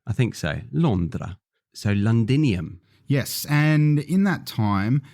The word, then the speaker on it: Londinium: London ah yes so London was originally called londinium which is a Latin word now London came about because the local Britain when they were trying to pronounce London in their accent started to say lundan wow lundan lundan and then